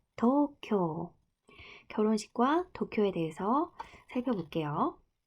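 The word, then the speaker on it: 東京: 일본식 발음이 도쿄. 둘 다 장음이에요. 도쿄.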